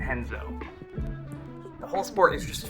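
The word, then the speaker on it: Renzo: names with art but in brazil that's going to be pronounced h because of portuguese so that's where you get names like horion and henzo the whole sport is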